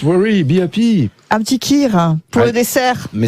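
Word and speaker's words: kheer: un petit kir pour Ouais.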